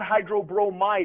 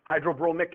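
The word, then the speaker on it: hydrobromic: That's aquous hydrogen brooide and hydro, not hydro broomemide acid. Hydro bromic acid.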